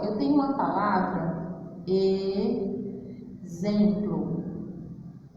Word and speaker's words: exemplo: Se eu fosse escrever do jeito que eu falo, ó, olha como é exemplo. Exemplo. Ó, o meu X tem o som de Z.